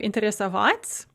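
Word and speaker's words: интересоваться: of interest or interest note the shift of stress to the u in the non-past form so in the infinitive we have interest of vats with a stress on that ah and then when we conjugate it into the non-past form that stress is going to shift one space to the left it's going to shift one syllable towards the beginning of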